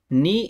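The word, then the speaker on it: knee: kindergarten ঠেন এটাও সঠিক নি এই ওয়ার্ডটি দেখে রাখুন এখানে কে এই বর্ণটি বা এই উচ্চারণ করা যাবে না আর এই পাশে দুইটা ই আনতে হবে ই নি কে কে এন ডাবল ই বা আপনি এভাবে বলতে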